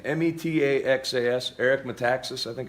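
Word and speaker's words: Metaxas: said it's disputed eric um how do you pronounce his last name m-e-t-a-x-a-s eric mataxis i think it's called i could have it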